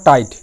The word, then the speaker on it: tight: এরপর টাইট, TIGHT, এখানেও I এর পর GH আছে, তো GH এখানে সাইলেন্ট থাকবে।